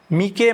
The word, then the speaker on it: Meike: 50 एमएम एफ 1.8 मीके मतलब इसकी spelling जो है एम ई आई के ई है। कुछ लोग इसको मीके बोलते हैं। कुछ लोग मैके बोलते हैं। आप जो भी प्रोनाउंस कर लें लेकिन यह वाला लेंस